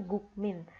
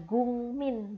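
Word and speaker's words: 국민: Jadinya bacanya gung min bukan guk min kayak gitu ya.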